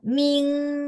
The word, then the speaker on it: ming: Jadi sebenarnya kalau yang terakhir ini latih N sama eng, di mana ya kadang-kadang ada yang kesulitan gitu ya. Namanya 前鼻音和后鼻音. 前鼻音 itu ada IN. 后鼻音 itu apa? Bunyi hidung belakang, eng ya. Jadi lebih kencang ya.